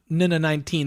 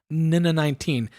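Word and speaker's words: NN-19: It has a sampler, which sort of, I always have assumed that sampler, the Nina 19 there in the bottom left corner, which, by the way, is the official pronunciation, Nina 19.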